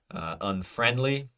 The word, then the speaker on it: unfriendly: Unfriendly, unfriendly, unfriendly. So the in friendly is stressed vowel sound. So that is the correct pronunciation pattern.